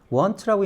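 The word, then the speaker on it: won't: 거기에 내일이 말이죠 그다음 he want want라고 읽는데 예 윌라스 축약 형입니다 이것도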